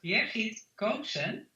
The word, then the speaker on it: Birgit Koopsen: Let me then pronounce my name right for everybody to hear. So my name is Birgit Koopsen.